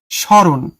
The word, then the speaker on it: স্মরণ: স্মরণ এটার উচ্চারণটা হবে এরকম স্মরণ।